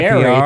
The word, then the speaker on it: Fieri: pronounced Yeah, his- I call him it's Guy Fieri. Ferrari.